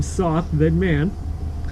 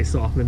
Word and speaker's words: Sothman: You might think I'd say pronounce my last name Soth, then man, but you don't. It's pronounced with the O silent. Which actually, most of the time I say Sothman anyways, just to appease